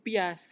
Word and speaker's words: Piaget: Ee teori kognitif pias itu namanya pi bacanya ya tulisannya piaget gitu tapi bacanya itu pia pias transisi fase pra menuju prasional konkret nanti ada kok penjelasannya.